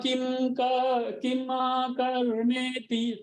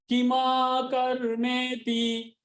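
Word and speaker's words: किमकर्मेति: किम कर्म किम कर्मेति, देखिए इसको उच्चारण ध्यान दीजिएगा, मैं फिर से पढ़ता हूं जिससे आपको ध्यान रहे। किम कर्म किमा कर्मेति, किम कर्मेति नहीं, किमा कर्मेति कवयोप्यत्र मोहिताः, मोहिता नहीं, मोहिताः।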